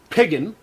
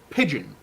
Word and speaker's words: pigeon: Whereas you say pigeon. There's a very soft D in that word. You don't say piggin. No, it's pigeon.